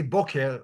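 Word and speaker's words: בֹּקֶר: The reason it's voker, it's because of grammar rules and that the previous syllable is an open syllable and the tropes. But I'm just gonna say boker, like most Israelis would say.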